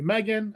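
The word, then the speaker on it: M3GAN: So Megan, so M3 Gam, but obviously the three is supposed to be the backwards E. So uh a spin-off of the movie Megan.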